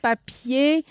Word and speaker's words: papier: Manger, boulanger, papier. The R at the end is silent. The E-R is silent.